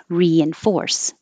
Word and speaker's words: reinforce: So when you add the prefix re to a word that begins with a vowel, you keep the e sound, like reinforce, even if that first syllable is not the stressed one.